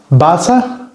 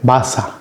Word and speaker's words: Wasser: Wasser es agua.